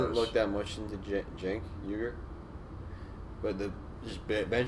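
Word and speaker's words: Cenk: Like, blatantly corrupt rather than, like, Shank. How do you say it? How the fuck you say his name? Just say it like it's a J. Jank.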